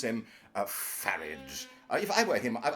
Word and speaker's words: Farage: I were him I I would say farage because I mean sounds more English and would conceal his uh Continental uh descendants probably yeah so pronounce him farage and that this would rhyme with garage and and and and